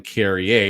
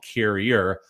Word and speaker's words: Carrier: napkin down there no William Cary Ur gets his name pronounced appropriately by everybody including coach Cassidy William Kier although William Kier himself does not mind being called carrier as long as coach Cassidy keeps putting him in as Kier told me at the